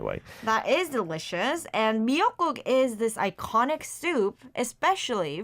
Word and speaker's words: 미역국: The miyeokguk, right? Not miiguk. This is miyeokguk. Miyeok is kelp, and the guk is the soup, so seaweed soup. That's delicious, by the way. That is delicious. And miyeokguk is this iconic soup,